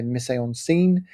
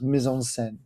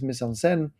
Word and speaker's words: mise en scène: Sometimes you'll probably hear me say mise en scène um being British and butchering the language, but it's a French term and I believe it's pronounced mise en scène.